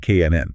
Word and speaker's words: can: In a sentence, we almost never say it as a big, clear word. We don't say, I can swim. I can swim. Yeah, that sounds like a robot. Right? Instead, we make it very small and fast. The vowel sound almost disappears. Sounds like K-N-N.